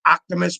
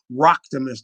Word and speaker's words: Roctimus: For those of you who can't pronounce the name, those of you who remember the Transformers, Optimus Prime, put a rock in front of that thing and take the P out. Roctimus, not Optimus, Roctimus.